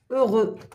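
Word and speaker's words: heureux: عندنا كلمات مثلا اوغو، سعيد، اوغو. هنايا نطقنا الاكس؟ لا ما نطقناش. على واش؟ لانه في اخر الكلمه وقبله حرف او.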